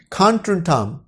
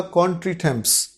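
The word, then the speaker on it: contretemps: वैसे स्पेलिंग के हिसाब से अगर पढ़ा जाए तो होगा कॉन्ट्रीटेम्प्स, कॉन्ट्रीटेम्प्स, पर ये फ्रेंच का शब्द है तो इसकी जो प्रोनाउंसिएशन है वो थोड़ी डिफरेंट है। खान ट्रीटा, खान ट्रीटा।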